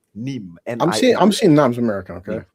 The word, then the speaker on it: Nîmes: It's like the first thing that it's pronounced Nîmes. Nîmes.